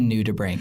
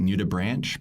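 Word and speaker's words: nudibranch: who wouldn't know yes a new tube rank that's how I pronounce it some you may have heard it new to branch but brank being like your brain kia your lungs so their gills and new tea just an ood so it's naked gill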